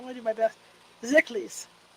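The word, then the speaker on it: Szekelys: Szeklis, the S is silent, have a right to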